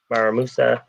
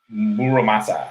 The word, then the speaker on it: Muramasa: Is it Maramusa? Muramasa, the Muramasa brother, Muramasa.